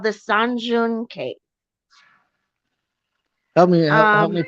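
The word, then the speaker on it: Sơn Đoòng: it's the biggest cave on Earth, and it's called the Sanjun Cave. Help me Um, pronounce that. San, as in song, like song.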